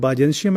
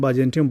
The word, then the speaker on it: Byzantium: The pronunciation of this word Byzantium and Byzantium both are correct, so don't get confused with that. Byzantium is an American pronunciation and Byzantium is a British one.